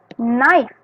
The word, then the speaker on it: knife: Nah, pisau bahasa Inggrisnya knife. Oke. K-nya nggak disebut ya teman-teman. Knife. K. Tulisannya K-N-I-F-E. Bacanya knife. K-nya nggak disebut ya, ingat ya teman-teman.